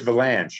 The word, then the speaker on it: Vilanch: have to say it's valance it rhymes with uh with ranch and it's avalanche but it's spelled differently and it's a made-up